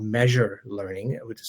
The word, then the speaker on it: Meazure: And then the last big area is our certification technology, and we use a technology called Measure Learning, which is spelled with a Z.